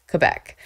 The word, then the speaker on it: Quebec: I always called it Quebec, like Quebec, pronouncing the U.